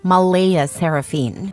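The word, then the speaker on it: Mleigh Seraphynne: yes spelled exactly like that Claire insists it's pronounced Mala seraphine but she's adamant about keeping the creative spelling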